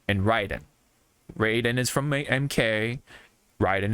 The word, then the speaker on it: Raiden: Metal Gear so um we know it's Ryden but we say Raiden just because that's how it went from the old days you know what I